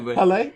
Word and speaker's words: Halle: But- Halle.